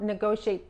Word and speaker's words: negotiate: to negotiate the contracts I used to not negotiate the terms of the contracts the terms of